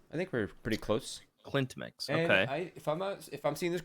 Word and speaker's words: CLEANTmix: I'm not mistaken so the correct pronunciation is Clint's mix okay I think we're pretty close Clint mix if I'm seeing this